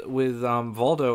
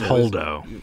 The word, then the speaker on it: Holdo: Like, the one thing I wish that they did with Voldo, or however you pronounce her name. It's Holdo.